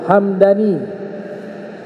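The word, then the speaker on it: همداني: kalau tadi nama suku nah belakangan dibacanya hamadaniun hamadani mimnya fathah kalau yang suku tadi mimnya su sukun Hamdani kalau hamadani nama kota kalau Hamdani nama su suku disebutkan bahwa kota tersebut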